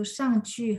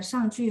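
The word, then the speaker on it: 上去: di teks bacaan ada 上去和上来. Lainnya ini sama 去 -nya dibaca nada 5. Iya, betul. Ini karena mereka di sini berfungsi sebagai arah.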